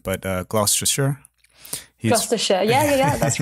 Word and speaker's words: Gloucestershire: this because it it you pronounce it not as it is read or as it's written but uh gloucestershire yeah yeah that's right